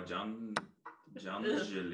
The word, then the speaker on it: Janželj: How do you pronounce those two names? Janželj.